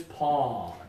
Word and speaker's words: pawn: everybody this one is pawn oh yeah pawn don't worry too much about the W a lot of students want to do pawn okay don't worry just aw pawn like boss ha this next one